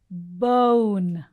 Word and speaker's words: bone: to look for is now this o sound usually manam oni o laga pronounced chestamu which is a wrong pronunciation so what we have to do is english law complete so how do you have to say oh bone bone okay so let